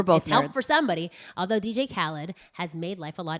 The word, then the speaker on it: Khaled: in my case people don't know how to pronounce and it gets more awkward although DJ Khalid yeah okay good job hey hissy has me no I actually I think it's DJ Khaled it is Kelly it's Kelly well we're both